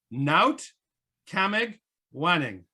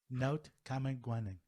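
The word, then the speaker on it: Naotkamegwanning: How do you pronounce it? Kamagwaning. Naut Kamagwaning. Naut Kamagwaning.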